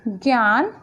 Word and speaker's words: ज्ञ: वैसे तो इसकी साउंड ज्ञ बनती है लेकिन हम इसे ज्ञ प्रोनाउंस करते हैं. ओके, जैसे कि ज्ञान, ज्ञान, ज्ञानी, जिज्ञासा.